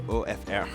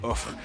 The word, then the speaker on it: OFR: But from there, because I promised you a bookstore, we're gonna head to OFR, or I call it OFR, because it's spelled that way and it's ridiculous, but I like calling it that.